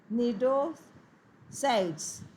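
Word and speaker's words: cnidocytes: ड्यू to presence of नीडोसाइड्स। C silent बेटा इसमें, ठीक है।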